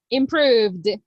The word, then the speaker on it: improved: the past improv impr improved look becomes improved improved improved look improved improved improved improved exactly the letter e as you can see doesn't have any participation in the pronunciation it doesn't exist improved okay improved perfect okay